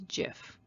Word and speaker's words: GIF: this one is it jif or gif well steve wilheit is the man who created the format in 1987. he himself states that is pronounced as jif but alas the debate